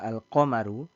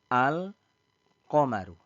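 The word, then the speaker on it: القمر: qamarun yakni qf perhatikan Al pada kata alqamaru ketika kita menyebutkannya ya ketika kita menyebutkannya maka disebutkan dengan jelas Al qaru ya AL qomaru nah ketika disebutkan Al dengan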